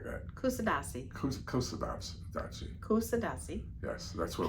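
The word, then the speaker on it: Kuşadası: Can you say Can you pronounce it? Uh, Cuda. Oh, Turkey. Curadashi. Close. C. Yeah, something like that. Kusadasi. Kusadashi. Kusadasi.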